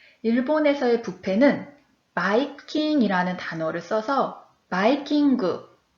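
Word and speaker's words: バイキング: 그래서 뷔페는 바이킹이라는 단어를 써서 바이킹을 일본어 발음으로 해보니 바이킹그 이렇게 이야기를 합니다.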